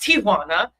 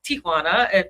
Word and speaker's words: Ti'Juana: It's really pronounced Tijuana. Tijuana. If you're from the Spanish culture, but Americans say Tijuana.